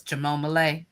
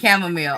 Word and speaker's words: chamomile: and I think they did it on purpose mispronouncing chamomile as chamom and I laugh so hard. Every time somebody said chamomile, I'm in my head saying chamom.